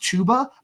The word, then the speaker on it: Chuba: a chba hubard owner and it it is pronounced chuba I'm saying it wrong on purpose because chubba hubard sounds so much better it rhymes like